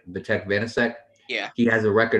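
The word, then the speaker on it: Vítek Vaněček: Did I pronounce that right? Vitek Vanacek.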